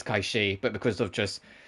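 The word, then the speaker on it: Cait Sith: I am pronouncing it in its original Gaelic origin. I'm not going to say Kate Sif. I know that's what they'll say in 7 Rebirth, but I will still say Kaishi, because it's what it is.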